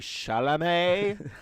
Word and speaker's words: Chalamet: timothy how do you say his name timothy chalamet i was gonna say chardonnay chalamet telemet so